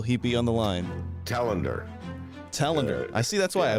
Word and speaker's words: Telander: Telander. I see. That's why I was pronouncing it wrong. Telander.